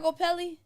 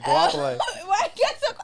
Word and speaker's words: Goapele: And that's how you say her name? It's not Gopelli? It's not Gopelli? No, it's not. It's Goapele. I really thought it was Gopelli.